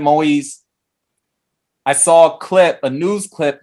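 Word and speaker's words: Moïse: last name right because I heard it pronounced Moise. I'm going to say President Moise.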